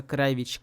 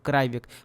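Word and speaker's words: Kravić: Произносится кравич, как в сербском языке. Но Телбонис произносит его как кравик.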